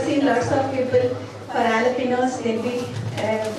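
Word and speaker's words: jalapeños: For jalapenos, they'll be, the J is silent, they'll be calling jalapenos.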